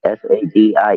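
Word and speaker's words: Sadie: It's spelled sink. Well, Sadi. The first name. S A D I E.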